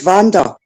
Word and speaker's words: Vanda: V it's pronounced my name is spelled word w but it's pronounced Vanda so that's why it's spelled Vanda on YouTube because it saves people call me all the time is